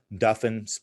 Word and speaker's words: Duffin: That's Duffin spelled like muffin, but a D, or Christopher Duffin.